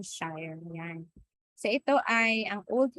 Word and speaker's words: Shire: Sa British ang tawag nila dito sheer no? Old old means to share. Um parang ganun glov basta ganun no? So sheer tayo ang pronunciation natin. Shire yan.